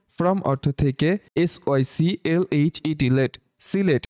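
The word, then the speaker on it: Sylhet: অর্থ থেকে, SYCLHET late, সিলেট এখানে এইচকে সাইলেন্ট রেখে আমরা উচ্চারণ করব সিলেট অর্থ সিলেট।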